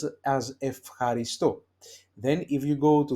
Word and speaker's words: ευχαριστώ: Okay, so that's why we pronounce it as ευχαριστώ.